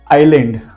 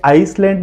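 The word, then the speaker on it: island: tell you some examples आइलैंड अब spelling check कीजिए आई एस एल ए एंड डी इसको आइसलैंड नहीं बोलते आइलैंड बोलते हैं एस के बाद ए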